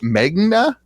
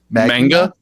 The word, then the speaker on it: manga: Is it Magna? Yeah, how do you pronounce it? Manga? Yeah, manga. I think it's manga.